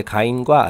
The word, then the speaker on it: 가인: 자 그래서 제가 이제 가인과 아벨 이제 물론 우리말로는 이제 가인 카인이라는 케인 이렇게 발음 하거든요 어 제가 이제 그이